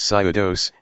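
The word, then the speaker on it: ψεῦδος: and the Greek word for lie is eudaje, pronounced pseudos, and means a conscious and intentional falsehood.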